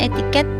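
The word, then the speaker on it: etiquette: Etika juga berasal dari bahasa Perancis equite atau biasa diucapkan etiket yang artinya kebiasaan cara bergaul berperilaku.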